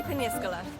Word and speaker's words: Peñíscola: Here we are in sunny Peñíscola. Oh, is that how you say it? Yeah, the accents are pretty important in this word.